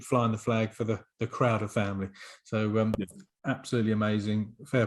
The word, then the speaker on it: Crowder: I should say Crowder is spelled Crowder. A lot of people think there's a TH in the middle. A lot of people think it's Leslie Crowther, I suppose, Exactly. as opposed to Crowder.